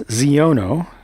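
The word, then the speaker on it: Xiono: This is Cass Zeono, spelled with an X at the beginning of his name.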